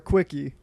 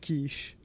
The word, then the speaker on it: quiche: Asked the waitress for a quickie. However, upon talking to my friend, the word is pronounced quiche.